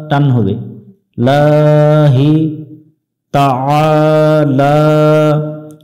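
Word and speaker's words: تعالى: লা টান হবে লাহি তাআলা এখানে আ গলা চেপে উচ্চারণ হবে এবং এক আলিফ টানতে হবে লা এখানেও এক আলিফ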